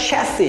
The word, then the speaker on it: chassis: চ্যাসিস ইটস চ্যাসি চ্যাসি এস টা silent থাকবে চ্যাসি চ্যাসি চেসি but British উচ্চারণ যদি আপনি খেয়াল করেন তাহলে দেখবেন এটাকে চ্যাসি বলা হয় না চ্যাসি চ্যাসি আপনি চ্যাসি বা শ্যাসি যেটাই বলুন না কেন